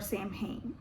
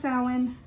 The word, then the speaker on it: Samhain: carve them up as lanterns during Halloween or Sam Hayne uh salmon it's pronounced saline some people pronounce it that way though another